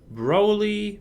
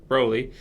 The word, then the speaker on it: Broly: We're going to be talking about who would win between the Legendary Super Saiyan Broly versus Goku at Super Saiyan Level 3.